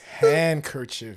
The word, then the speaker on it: handkerchief: Handkerchief, but the D is silent, so it's handkerchief.